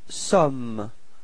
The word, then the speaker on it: sommes: Then for nous, you've got nous sommes. Okay, final S is not pronounced.